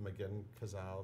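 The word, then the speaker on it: McGinn-Cazale: It's playing through Sunday at is it the McGinn Cazale?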